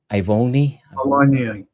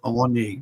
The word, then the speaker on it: Awoniyi: I don't know how even to pronounce this guy's name. Ivoni. Awoniyi. Yeah. Awoniyi.